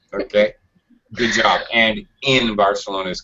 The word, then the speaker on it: Barcelona: ago okay very good you have a English very American English pronunciation of Barcelona they don't call it that it's Barcelona has more of a kind of a th sound but for an American